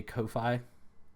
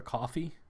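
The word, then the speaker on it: Ko-fi: Um, I've also started including a Kofi link or a coffee, however you want to pronounce it, link in the description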